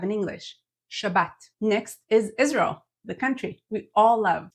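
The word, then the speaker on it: ישראל: sound this gives us Israel not Israel is Israel for Israel next is kosher the word referring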